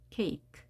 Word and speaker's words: cake: 안 되는 경우 볼까요 kake 끝에 2는 발음이 되지 않고 대신 그 앞에는 자신의 이름을 소리 값으로 말하기 자 일종의 규칙이라고 했습니다 케이크 2라고 하는 모음이 영어에서